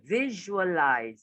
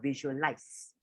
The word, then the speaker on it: visualize: a little bit awkwardly so to visualize so although it's stuck with an s it's still for the context of this one it's a double zero so it's visual with the jn lies with an s with a z sound not with an s it's not visualized um so it's just